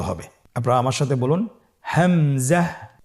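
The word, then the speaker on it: همزة: হামজা হরফটি উচ্চারণের ক্ষেত্রে বারিক করে উচ্চারণ করতে হবে এবং এখানে টেনে পড়া যাবে না। দ্রুত পড়তে হবে। আপনারা আমার সাথে বলুন হামজাহ হামজাহ।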